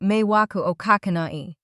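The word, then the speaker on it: 迷惑をかけない: You pronounce it roughly, meiwaku o kakenai.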